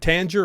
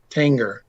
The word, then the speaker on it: Tanger: know i feel like in order for the g to be a soft g there would have to be an i after it so like tangier but tanger i feel like you